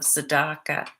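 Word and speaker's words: tzedakah: to talk very briefly about the practice of sadaka many of you have probably heard of it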